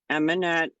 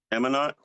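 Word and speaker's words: Amonett: Eminette. It's spelled A as in apple, M as in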